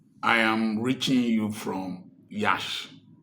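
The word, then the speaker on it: Iași: I am reaching you from Yash. Yash is spelled I A S I is in Romania.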